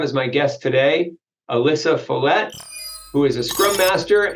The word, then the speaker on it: Follette: for having me Matt hopefully I pronounced your last name properly too you did yes you got it thank you awesome awesome